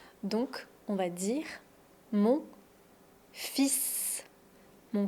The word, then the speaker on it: fils: Donc on va dire mon fils. Mon fils. Mes fils. Attention, on ne prononce pas le L.